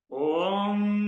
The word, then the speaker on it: om: o o o o and it's pronoun pronounced as om together om so it's not this it is oh it's like the lifeline so the a is a bit higher than the other two tones I repeat two more